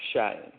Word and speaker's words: Cheyenne: Is it Cheyenne? Yes, with the N, Cheyenne.